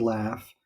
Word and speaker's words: laugh: picture here is that even though the word laugh ends with the letters gh when you spell it when we say it out loud the final sound in the word laugh is what we call an F sound even more generally what's